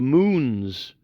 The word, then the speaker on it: Mohun: Particularly these characters called the Moons. It's spelt Mohun or Mohun or Mohun, but it's pronounced Moon.